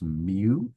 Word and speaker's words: mu: unusual looking symbol that's the symbol uh it's pronounced mu is the name of that symbol so it